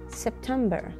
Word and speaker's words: September: شهر أيلول هو September. September. التشديد هو على القسم المتوسط في هذه الكلمة September، يعني القسم الأكثر وضوحاً بهذه الكلمة هو القسم المتوسط September. ما بقول September، لا September.